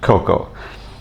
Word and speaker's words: korko: language is called samlore Coco um actually the spelling when it's transliterated into English has a lot more R's in it than actually are pronounced in the khmeri language